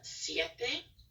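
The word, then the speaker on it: siete: part um I for seven we have uh CFA which would be s-i-e-t-e and then for Ultra CH in Spanish is pronounced and so we have Portugal o c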